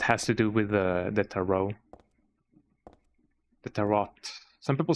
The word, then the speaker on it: tarot: And at the moon tarot card. Here comes the scene, though. It is absolutely not pronounced with the T at the end.